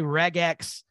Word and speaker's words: regex: regex, some people say regex. Paul, what camp are you in? I'm in the reg, in that hard G. Because it's regular expressions, so I figure it's best to be regex, though there's a chance